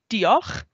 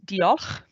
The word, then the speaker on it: diolch: So thank you in Welsh is diolch. So it's diolch.